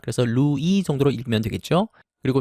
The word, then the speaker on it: Louis: 이때 루이스라고 발음하지 않길 바랍니다. 프랑스에서는 끝에 있는 자음이 발음되지 않습니다. 그래서 루이 정도로 읽으면 되겠죠.